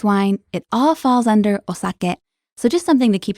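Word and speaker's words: お酒: okay so how would we say alcohol osake osake now we have this word in english in english it's pronounced saki but it's important to know this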